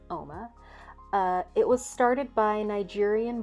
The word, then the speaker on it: Uoma: beautiful in Nigerian and it's pronounced OMA it looks like uma but it's OMA it was started by